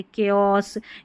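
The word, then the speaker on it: chaos: जैसे इनमें ये शब्द है केओस। यहां पर सीएच को क पढ़ा जा रहा है।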